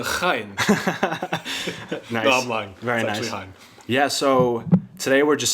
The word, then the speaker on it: Heyne: my good friend Hein what's up thanks for having me here yeah the way you pressed my last name wrong it's actually a high yeah so today we're